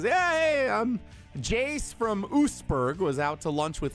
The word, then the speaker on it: Oostburg: It's Oostburg. And he said, Oostburg. Big fan of the show. As I stepped outside. How many syllables? It's 2 syllables in Oostburg there.